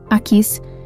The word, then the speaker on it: Aquis: Originalmente, antes da influência do aramaico sobre o hebraico, o nome Aquis provavelmente era pronunciado como Aquish.